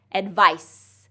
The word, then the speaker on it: advice: So advice has an S sound at the end, advice. So it's a voiceless sound.